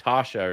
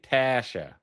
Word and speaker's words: Tasha: If you try to shortcut it and go like Tasha or something, you don't get it. You don't get and if you say Tasha like real quick, no, you gotta hit the A. Tasha. Tasha. It's like Tahshhsha.